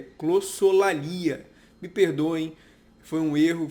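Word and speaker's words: glossolalia: A primeira delas é que eu falei clossalia, quando na verdade a pronúncia correta é clossolalia.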